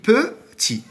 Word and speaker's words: petit: On dit petit. Alors, pour trouver la lettre muette, on passe au féminin, par exemple. Petit, petite. Donc, T à la fin.